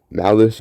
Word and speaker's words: Malys: Malice Gronoka and Norman Ailsire are the cousins.